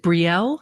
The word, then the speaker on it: Brielle: We have Paul from, I don't know how to pronounce this. Is it Brielle? Is that the name of the town? Okay, Brielle.